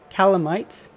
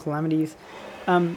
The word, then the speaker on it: Calamites: For example, we have a lot of these calamites, or I think they're pronounced calamites. I don't think they're called calamities.